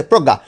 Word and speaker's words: প্রজ্ঞা: এই যে প্রজ্ঞা প্রজ্ঞা তাহলে কি লিখবো এটা বলতো তোমরা বলো প্রজ্ঞ পয়রা ফলা ও কার গ প্রোগ গয় চন্দ্রবিন্দু আকারে গা ঠিক আছে প্রজ্ঞ গা এই দেখো পরপর দুইটা